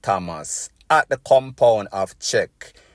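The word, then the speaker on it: CHEC: Thomas at the compound of Czech, C-H-E-C, it is pronounced, in Hurdley, Golden Grove, that is in St.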